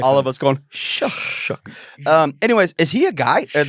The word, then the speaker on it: Shugg: Shug. Like I want to say Shaw, but I keep hearing people say Shug. Tyler Shugg.